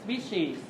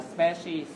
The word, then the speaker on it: species: Từ này chúng ta nhớ đọc, chúng ta đọc là species chứ không phải là species.